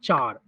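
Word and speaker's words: CHAR: Oxford में देखोगे तो इसका प्रोनाउंसिएशन होता है चार।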